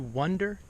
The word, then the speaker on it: wonder: Notice it's kind of similar to wonder. Wonder. It's a short U sound.